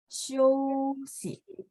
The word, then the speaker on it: 休息: 休息. Boleh ikutin saya? Oke, boleh? 休息、 Iya, show ya. Jadi XIU itu bacanya SIOU 呀，X bunyi S, terus IU IOU 呀，休息。再来是14, 14, 工作.